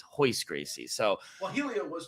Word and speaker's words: Royce Gracie: Royce Gracie. It's Hoist Gracie.